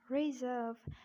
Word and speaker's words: reserve: And this is reserve. I'm keeping this R silent in British accent because it's followed by V.